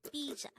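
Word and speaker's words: 피자: What is pizza in Korean? The Korean term for pizza is pizza. Again, it's pizza. This is composed of two syllables. The first syllable is pi, the second syllable is ja.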